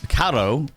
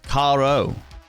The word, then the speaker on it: Caro: Oh, it's Italian, so it's not Caro, it's Caro.